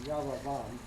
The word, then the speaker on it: Jeroboam: And he is, if you look on your chart, you'll see that he follows, they just give the Hebrew pronunciation, Yaravam, but they call him Yaravam Roman numeral 2.